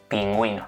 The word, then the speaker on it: pingüino: This u is not pronounced except in the case of some exceptions. For example: pingüino (penguin).